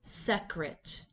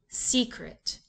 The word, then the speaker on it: secret: that sound right no let's change the division to before the first consonant and place the accent back on the first syllable the first syllable is open and the vowel is long the second syllable is closed and the vowel is short the word is secret that sounds like a word we know what happened when we